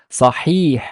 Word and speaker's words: صحيح: Like here, it's wahid, wahidun, wahi, wahidun, and here it's a long vowel kasra, so it's sahih, sahih, sahihun.